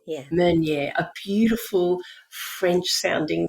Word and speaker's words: Meunier: It's Meunier. Meunier, yeah. Meunier, a beautiful French sounding name.